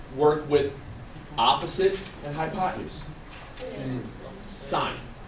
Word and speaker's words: sine: Sine. Pronounce. It's not a 9-inch nail song. It's sine.